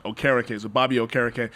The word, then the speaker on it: Okereke: I looked up the pronunciation. Okereke. So Bobby Okereke. Okereke.